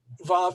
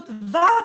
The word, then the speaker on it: Vav: Vav is, today we pronounce it as a V sound. However, in ancient Hebrew, it may have been a W sound.